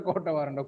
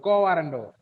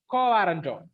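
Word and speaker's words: quo warranto: and quota varando, It is not a quota warrando, co warrando.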